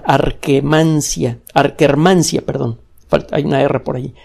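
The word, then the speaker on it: Akkermansia: música arqué man shia se escribe con doble k como suena arqué mancia art hermansyah perdón por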